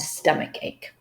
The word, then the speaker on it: stomachache: draw students' attention that not always the CH sounds in English will be pronounced as ch. Very often they could be pronounced as k, as is the case with all the 6 words in this handout.